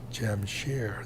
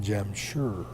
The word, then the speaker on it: Jamshar: coordinates of jamshar India I spell it at j-a-m-s-h-a-r Jamshed because that's how you pronounce it in Punjabi Jam share the s-h-a-r it's not gem sure jamshare s-h-a-r and that's the way it should be spelled in English Jam share jamshar Jam